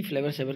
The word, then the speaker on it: Flavr Savr: प्रोना ए डी फ्लेवर सेवर और इसलिए इसको प्रोनाउंस डी फ्लेवर सेवर के नाम से भी जाना जाता है ए